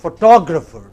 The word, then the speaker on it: photographer: be a stressed okay challenge number two is stress changes as the words change okay the same word it can be photo say it after or it can be photograph again in both cases you have a stress on the initial syllable but look at the next word it is photographer what is it next word so three different kinds of stress on basically the same related word you have photo photographer